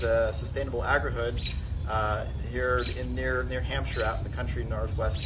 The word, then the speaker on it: Hampshire: We're here today at our first home of our Green Home Summer Tour Series here in, is it pronounced Hampshire? Hampshire. Yeah. Hampshire, Illinois.